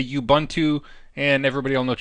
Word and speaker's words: Ubuntu: the history so a bun - which is pronounced ooh boon - it's actually an African word and it